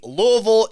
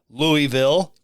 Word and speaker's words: Louisville: are in the city generally speaking generally speaking louisville is the accepted pronunciation okay but there's like five other pronunciations that they consider legit pronunciations you could say louisville you could say uh louisville louisville just two